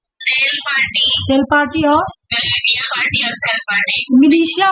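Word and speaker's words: militia: party cell party और मिलिशिया बोला जाता है इसको मिलीिशिया मिलिटिया नहीं बोलेंगे मिलिशिया प्रोनाउंसिएशन होगा इसका ठीक है अच्छा ये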